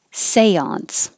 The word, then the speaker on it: seance: This is a word from French, so the E here sounds like A. Seance.